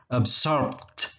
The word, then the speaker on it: absorbed: Kalau pakai ed bunyinya jadi t. Absorbed. Tuh ada t gitu di ujung ya.